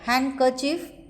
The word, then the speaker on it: handkerchief: in do sad hidden it is silent in the words like handkerchief handsome if we see elepant